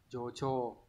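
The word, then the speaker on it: 助長: Chợ trường đọc là gì, jocho.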